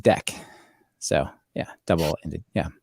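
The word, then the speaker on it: deque: learned a few years ago that dq is pronounced deck so yeah double ending yeah all right so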